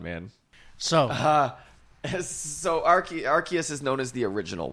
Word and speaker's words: Arceus: that came from nothingness and archus pronounced archus although there were originally three different pronunciations officially including arus arus was they officially said